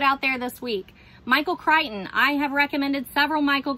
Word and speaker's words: Crichton: Michael Crichton rhymes with Frighten.